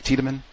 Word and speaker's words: Tiedemann: Did I say it correctly? Tiedemann? Yeah, Frederick Tiedemann, yeah. Tiedemann, gotcha.